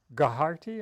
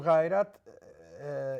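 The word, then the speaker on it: غیرت: Yes, you use the word gaharti. Am I pronouncing it right? So ghairat in Pashto means.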